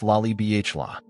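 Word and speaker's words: Lalibela: Laabella, pronounced Lai BHL.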